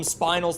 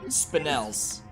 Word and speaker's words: spinel: re4 Remake blind run I call them spinals the whole way through but when I started doing the shorts I looked up how to pronounce them and now I know that you say it spinels but that guy is